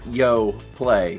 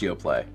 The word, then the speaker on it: Yoplait: But it's pronounced Yoplait. The brand is pronounced. The brand is pronounced Yoplait. The lady on the commercial told me.